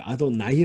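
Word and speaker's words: אֲדֹנָי: 번역을 하니까 이건 좀 하나님의 뜻은 표 이미 아도나이 라고 발언한 아님 이구요 아 돈 이라고 발음하면 나중에 카매트 가 아니라 히 대기 나온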